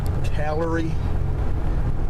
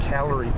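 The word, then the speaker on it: Callery: in the south and they are called calorie it's spelled c-a-l-l-e-r-y pears those are not dogwoods those are calorie pears sometimes incorrectly called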